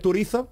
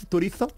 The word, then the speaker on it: Turizo: a tocar ya sabéis acostumbrado a escuchar turizo pronunciado con z turizo no suena bien no viene a españa